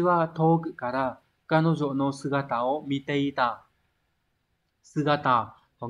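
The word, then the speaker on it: 姿: Số 4, đây là chữ nhiệt, này đọc là atsui đúng không? Nóng. Đúng, đây phải là số 1. Sugata là chữ tư.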